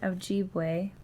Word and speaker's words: Ojibwe: job um and those I know this one's pronounced Ojibwe people the Salto people the cree and the